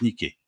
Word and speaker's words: Nike: grec de la victoire qui en fait se prononce nicker h en français c'est